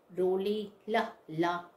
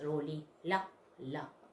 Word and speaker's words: Rolihlahla: So what is the pronunciation? Pronunciation is Nelson Rolihlahla Mandela. We will read right this. Rolihlahla Mandela.